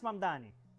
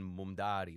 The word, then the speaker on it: Mamdani: Fíjense, nadie sabe pronunciar mi apellido. Es Mamdani, pero... Es Mamdani, pero a cada rato me dicen Mumdari, Mona.